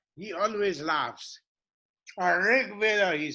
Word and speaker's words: Rig Veda: spent many years in India working on the Rig Veda. So when I say Rig Veda, he always laughs. Rig Veda, he says. Rig Veda. I cannot pronounce it, but I know what Rig Veda means, okay?